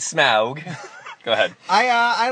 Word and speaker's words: Smaug: what did you think not smog like all of the AMC commercials had like smog smog smog you have to say it like you have a dragon or your Norwegian Smaug is smug go ahead I uh